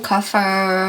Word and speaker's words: kefir: It should be "kuh-FEER" or "KEE-fur," haha.